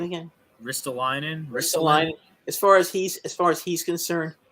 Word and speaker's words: Ristolainen: But again, as far as Ristolainen, how do you pronounce his name again? Ristolainen.